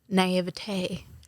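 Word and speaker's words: naïveté: Naivete.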